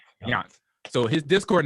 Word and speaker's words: Jandt: So his name is it's not, you see it on the screen there, JANDT, but it's pronounced Yant. Yant.